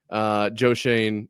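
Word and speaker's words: Joe Schoen: Joe Shane, I think is how you say it, right?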